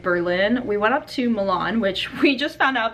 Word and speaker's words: Milan: minutes south of berlin we went up to milan which we just found out by talking to the guy that works the front desk at the motel here that is pronounced milon so that's kind of interesting but i kind